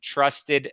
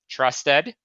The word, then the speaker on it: Trust ED: Toby Travis, the founder of Trust Ed. That's Trust ED, a framework for school improvement focused on developing trusted leaders, and the author of Trust Ed, the bridge to school improvement.